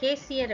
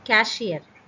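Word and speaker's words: cashier: நம்ம கேசியர் அப்படின்னு ராங்காக ப்ரொனவுன்ஸ் பண்ணுவோம், அப்படி சொல்லக்கூடாது. இட் இஸ் கேஷியர்.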